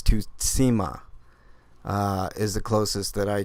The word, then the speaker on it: Tsushima: The closest I can come to pronouncing it correctly, it's Tutsima, not Tsushima, as most people are calling it. It is, because Su is the syllable.